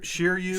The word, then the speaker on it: Shiryu: So it's the second user, and I forget exactly how you say his name, but Shiryu Shiryu of the Rain.